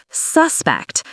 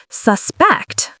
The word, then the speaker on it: suspect: As a noun, stress the first syllable, suspect. As a verb, stress the second, suspect.